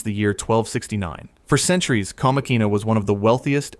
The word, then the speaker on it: Comacina: Pronounced Comacina.